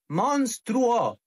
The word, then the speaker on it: monstruo: Es monstruo, monstruo. Ni monstruo, ni monstruo, ni monstruo.